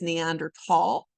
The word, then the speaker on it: Neanderthal: Okay, so you may also hear them called the Neanderthals, but that TH in German is kind of a hard T, so the correct way to pronounce it is Neanderthal.